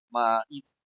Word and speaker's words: maíz: Bueno, resulta que esta palabra maíz tiene dos sílabas, ¿no? ¿Y cuál de estas dos sílabas que tiene es la más fuerte? ¿La ma o la i? ¿Cuál es la más fuerte? Ah, o sea, la is, ¿no? La sílaba i.